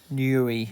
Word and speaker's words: Newry: in yuri northern ireland is that how you say it newry newey yeah that's it okay i got it